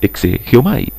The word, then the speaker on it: exegeomai: La hermana gemela de la hermenéutica es la exégesis, que en el concepto griego se pronuncia exegeomai, significa explicar, exponer, interpretar.